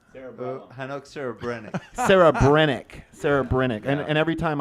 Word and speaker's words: Hanoch Serebrenik: Can you pronounce? Hanoch Serebrenik.